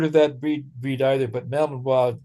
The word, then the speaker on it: Malinois: Belgian Malinois. Yeah, named King Tut. Yeah. Okay. Yeah, I've never heard of that breed either, but Malinois just made more sense as for French pronunciation.